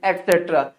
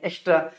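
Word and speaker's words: etc.: कुछ लोग इसे कभी कभी बोल देते हैं एक्स्ट्रा। अब जिसे नहीं पता वो तो जाहिर सी बात है बोलेगा ही एक्स्ट्रा, लेकिन इसका राइट प्रोनाउंसिएशन क्या होता है, एटसेट्रा। क्या बोलेंगे, एट, देखिए यहाँ पे लिखा हुआ है एटसेट्रा।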